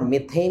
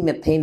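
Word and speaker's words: methane: হ্যাঁ ইউএসএ তে থাকেন মনে হয় বেশ ভালো প্রফেসর কেমিস্ট্রির উনি একটা ভিডিও বানাইছিল উনি বারবার মেথেন মেথেইন বলতেছিল তো ওইটা নিয়েও আমারে বলছিল যে ভাই আসলে কি উচ্চারণটা মেথেন নাকি মিথেন উনি যেটা করতেছিল ওটাই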